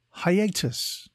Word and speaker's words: hiatus: Today's word is hiatus. It is pronounced hi-a-tus and is spelt H-I-A-T-U-S.